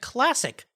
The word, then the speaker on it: Clasiq: williams is the head of business operations at classic now that's spelled c-l-a-s-i-q it's an all-new truly independent online